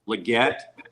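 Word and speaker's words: Legette: Leggett, yeah.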